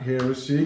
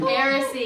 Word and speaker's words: Heiressy: But everybody give some big love to Heiressy, not Heiressy. Heiressy. First time anyone's pronounced it correctly.